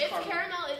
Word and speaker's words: caramel: It's C-A-R-A-M-E-L. It's caramel. Caramel, not caramel. Why are you trying to get rid of the syllable? Why would you add an extra syllable when you don't have to? Caramel.